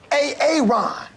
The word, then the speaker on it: Aaron: Because it's pronounced Aaron.